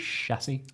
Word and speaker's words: chassis: I learned how to Yeah. pronounce chassis. Chassis? Chassis. Chassis is not it. I know, I Chassis. almost said that, but Chassis. then I remembered It's that I learned that word recently.